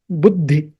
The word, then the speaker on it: बुद्धि: So this has to be pronounced as buddhi. Buddhi. So some more stress you have to give on that the followed by dha. The followed by dha becomes buddhi.